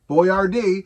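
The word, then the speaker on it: Boiardi: So we go from a fake woman to a real man, Ettore Boyardee. Boyardee. B-O-I-A-R-D-I, I think. It was an Italian last name, and it was pronounced essentially Boyardee.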